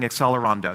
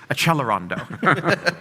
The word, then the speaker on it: accelerando: I can't tell a how many people love to write and say you're mispronouncing accelerando. You have to pronounce it in the right Italian way which is achelondo.